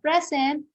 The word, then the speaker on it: present: Okay, so present, okay, telling you are present on that day. So that is a verb. So the stress in there is in the second syllable.